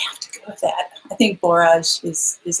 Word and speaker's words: borage: things so I'm like I'm called barrage like garage you know to do the porridge and but everybody says porridge and that's what the dictionary says is porridge so yes i have